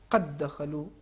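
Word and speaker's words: قد دخلوا: لہٰذا ایک حرف کو 2 مرتبہ تلفظ کرنے کے بجائے ایک ہی مرتبہ اگر شدت سے تلفظ کر لیں تو اس کا تلفظ بہت آسان ہو جائے گا.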